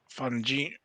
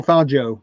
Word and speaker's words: Fangio: And also, I don't know if you saw this Juan Fungi. what how do you say? I kind of knew. I know as soon as you say Juan, it, I knew. Juan Manuel Fangio.